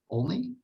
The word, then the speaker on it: Olney: pronunciation? Only?